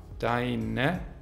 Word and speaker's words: deine: Die reduzierten Formen von dein sind deine mit e-schwa, deine, also fast wie e, deine, deines, is mit